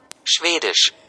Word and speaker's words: Schwedisch: Schwedisch. स्वीडिश। इसकी spelling पे तवज्जो दें।